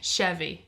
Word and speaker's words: Chevy: Chevy. Chevy, that's it. Chevy. Sorry. Chevy. Sorry. I was trying to say it right and I said it wrong. Chevy, like Chevy Chase.